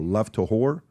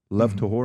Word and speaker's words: Lev Tahor: Lev Tahor. Lev Tahor.